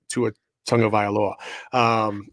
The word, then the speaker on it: Tagovailoa: Like, hey, by the way, Roger Goodell, see how I pronounce that? That's how you say Tua Tagovailoa.